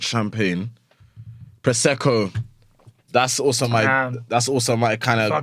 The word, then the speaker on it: Prosecco: Yeah, Prosecco, you're saying it right. Prosecco.